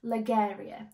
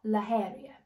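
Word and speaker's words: La Geria: stayed at hippo tells ligaria or laheria that's how they pronounce it I believe because I kept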